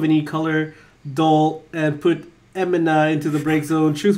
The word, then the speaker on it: Emina: It's an enema. Emina.